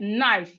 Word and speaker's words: knife: When I say knife, the first sound you can hear is but as we can see here, the word is starting with K. Okay, it's starting with K. So K is silent in this word.